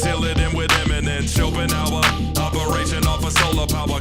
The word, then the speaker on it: Schopenhauer: It's not my fault that Schopenhauer rhymes with golden hour, gang.